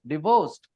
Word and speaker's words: divorced: is a stress we a divorce divorced stress is on the second syllable and that's why the